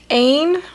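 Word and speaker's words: Aine: So Ain, which is the Irish goddess.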